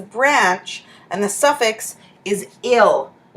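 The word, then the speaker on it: -yl: and the suffix is ill yl pronounced ill so we haven't changed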